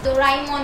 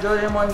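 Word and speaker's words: Doraemon: डोरेमोन है मेरी डोराइमोन because Japan में इसको डोराइमोन बोलते हैं क्या बोलते हैं डोराइमोन पर हम इधर इंडिया में डोरेमोन बोलते हैं ओके चलता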